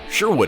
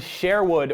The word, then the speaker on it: Sherwood: How you pronounce it depends on where you're from. When we first named the band this, I had only heard the word Sherwood, with an English accent, as in the Disney Robin Hood movie, and so